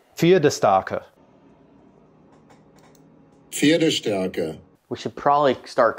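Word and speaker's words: Pferdestärke: P-F-E-R-D-E-S-T-A, K-A with an umlaut R-K-E, which I looked up and I think it is pronounced, I'm going to destroy this horribly. Please do. Fiedestarke.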